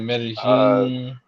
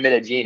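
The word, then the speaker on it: Medellín: Looking at Medellin. And so I'm thinking about splitting my time between three different places. So wait a minute. Medellin is in Colombia? Sí, señor. You said Medellin, it's Medellin.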